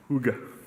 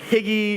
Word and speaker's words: hygge: Hygge. Hygge. Yeah, I'm always like higgy, and I'm like, oh, that's what I wish the word was.